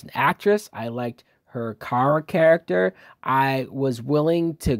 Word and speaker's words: Kara: Her constant snapping at Kara, saying her name wrong as Kira, and just it was so cliched.